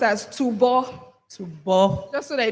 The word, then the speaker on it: Tubo: It's actually pronounced as Tubo.